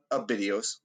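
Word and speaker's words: Abydos: videos what was that name one more time a videos all right it's spelled a-b-y-d-o-s and so he ignored her and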